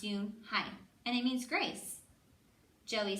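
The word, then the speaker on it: Unhei: "Yeah, it's pronounced Yun-hai, and it means grace."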